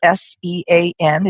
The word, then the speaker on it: Sean: His name is Sean Douglas, and the spelling of his first name is S-E-A-N. It's pronounced Sean.